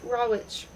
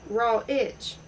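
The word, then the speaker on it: Rawitch: She had just opened a boutique, Davant Tales, with another Sen Coed, and the Polish artist Raw Witch, pronounced by some raw Itch, by him raw witch.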